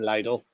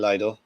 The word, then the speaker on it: Lidl: but my uh little special or lydle whatever way you choose to pronounce it I think it's supposed to be Lidl oh Mick Lloyd's Central